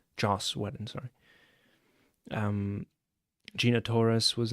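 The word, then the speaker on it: Joss Whedon: How are you supposed to pronounce that? Josh Weden. Jos Weden, sorry.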